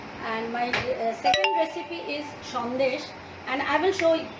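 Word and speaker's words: সন্দেশ: See, my second recipe is aam shondesh.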